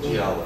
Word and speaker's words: Giallo: whole genre of movies that how do you pronounce that? Giallo. The Giallo.